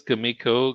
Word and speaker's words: Comico: Yeah, Apparently, it was Kamiko because Okay. people who worked there said that's how you pronounce.